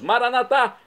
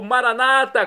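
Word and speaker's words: Maranatha: E agora eu clamo do aramaico dialeto de Jesus, Maranatá, como dizemos nós católicos, ou Maranata, como dizem nossos irmãos separados das comunidades evangélicas ou protestantes. Não importa a pronúncia, o significado é o mesmo.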